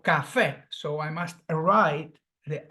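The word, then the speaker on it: café: finish in a vowel Cafe do you see the vowel oxyon it's stressed on the last syllable it finishes um in a vowel Cafe so I must write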